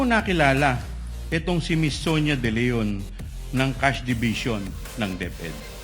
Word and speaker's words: De Leon: Ang tumatawag po sa akin ay si Miss Sonia De Leon po, ang Chief Admin po ng Cash Division ng Department of Education.